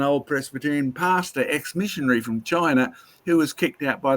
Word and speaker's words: Qin: The Chinese have a traditional flood story going back to their ancestral characters who came to China.